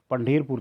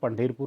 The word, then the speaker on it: Pandharpur: Pandherpur, that is the real pronunciation. If we talk about it, that is called Pandherpur, related to the Sai also.